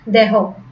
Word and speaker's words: দেহ: তাহলে এখানে হ আছে, সেই কারণে কি হবে না, দেহের উচ্চারণ কি হবে না, এই দেহ এর উচ্চারণ কি হবে না, এখানে কোনো জফলা হবে না।